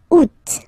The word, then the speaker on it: août: And then here, two options, because, well, two options are acceptable in French. The first one, you don't pronounce the final T, ou, ou. Ou. Second one, you pronounce it. Out.